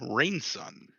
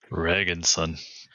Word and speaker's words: Reginson: And then Alereg, playing Dolgrom Rainson. If I pronounced that wrong, I am so sorry. Reginson. Reginson, ooh, Yep. my bad. There's a G in there.